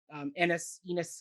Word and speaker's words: Ennis: It's Ennis. I think it's Ennis. I feel like they sung Ennis many times. I've always heard people with that name spelled that way pronounce it Ennis.